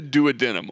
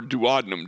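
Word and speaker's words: duodenum: That's the douadenum or dadum depending on how you want to pronounce it.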